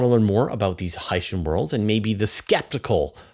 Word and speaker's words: Hycean: I'm really trying to get this in my mind, trying to say it Hycean, and hopefully this will help know that at